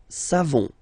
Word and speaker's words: savons: You don't pronounce the final S. Nous savons.